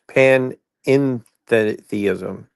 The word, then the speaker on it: panentheism: How do you say it? Panentheism. Pantheism? Panentheism. Yeah. Panentheism. Yeah. I'm adding an extra vowel.